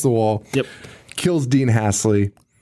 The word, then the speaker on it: Halsey: Kills Dean Hasley. Hasley, yeah, I think that's how it's pronounced. Halsey. Halsey.